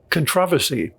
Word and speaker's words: controversy: be damaged by it there's a controversy you know that's how the british say controversy like who started folk